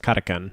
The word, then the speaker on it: Kapkan: Well, also, like, according to my Russian-speaking friend, Kapkan is pronounced Katakan.